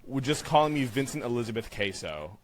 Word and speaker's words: Caso: Everyone always mispronounces my name, Queso. And it's not cheese. It's traditionally here in America we say Caso, but if you're saying it more correctly, it'd be the Roman vowel, so Caso.